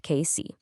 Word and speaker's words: Casey: their longtime workshop on Frank Street in Casey. That's pronounced KC.